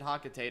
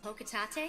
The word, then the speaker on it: Hakutate: After the events of the first game, only to find out that his company, Hakutate Freight, yes, I pronounce it Hakutate, I don't care what Palutena says, Hokatate?